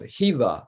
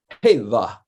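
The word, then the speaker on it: Hélà: It also has a meaning of like a rock or a boulder, So Selah rhymes with one of the pronunciations or the spellings of Hela or Hela.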